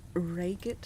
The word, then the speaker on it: Reigate: The Reigate Squires. Let me look up the pronunciation.